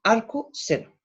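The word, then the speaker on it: arcsen: voy a llamar arco, se escribe arc, sen, pero nosotros la leemos arco seno.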